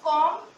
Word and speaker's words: comb: It's comb, it's climb, it's thumb and it's lamb. Means part of B is cancelled from these words. The pronunciation of B is not anymore in these words.